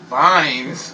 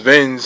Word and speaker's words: Vines: I don't know how to pronounce his last name. Vines. Oh, it is? I thought it was Vins or something.